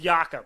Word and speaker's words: Jakob: that's how you remember it but it is yakup right yeah yucca pearl i know it's spelled like poetal but it's pearl okay all